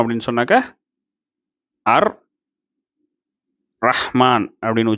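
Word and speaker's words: الرحمن: அப்போ அதனால தான் இங்கே அர் ரஹ்மான் அப்படின்னு வந்துருச்சு, சரிங்களா? அர் ரஹ்மான் இல்லைன்னா இது அல் ரஹ்மான்னு வந்திருக்கணும். அசல்ல அல் ரஹ்மான் அப்படின்னு இருக்கணும்.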